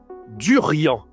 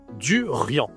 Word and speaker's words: durian: On prononce avec le nez, le en. On dit le durant. Le duriant, c'est un fruit spécial parce que c'est surtout en Thaïlande qu'on mange ce fruit.